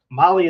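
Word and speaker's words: MAHLE: And for our podcast listeners, Molly is spelled M-A-H-L-E.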